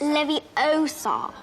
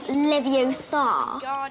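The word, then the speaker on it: Leviosa: seen this scene besides you're saying it wrong it's Levi OA not Leva you do it then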